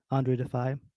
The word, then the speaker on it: Andru Defeye: Andru Defeye.